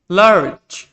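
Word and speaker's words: large: লার্জ, এখানে দেখো জি এর পরে ই রয়েছে, সেজন্য এটার উচ্চারণ হয়েছে জয়ের মতো।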